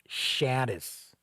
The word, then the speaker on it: Shadis: hill we had shadows or Shadis i believe it's pronounced saddest and i believe if